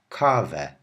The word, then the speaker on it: kawę: Also be aware that the E with the tail, which I said says ow, whenever it's at the end of a word, you pronounce it like a normal E, as if it doesn't even have a tail at all. Like this.